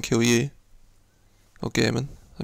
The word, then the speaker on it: Gehrman: So as we can see, this is what happens when you refuse to kill, or to let Gurnham kill you, or Gehrman, I mispronounced his name.